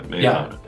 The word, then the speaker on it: Meahana: been talking with Adam bogs co-founder of May Mayana I pronounced that correctly yeah Mayana and uh Adam thank you for the walkth